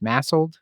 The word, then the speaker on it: MASLD: could be masl massel what how are we pronouncing this massel massel massel okay yeah so let's get into